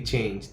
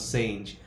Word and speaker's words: change: Like if I say a word that is change, they mispronounce like sage. All right, this is going to be change, this is not sage.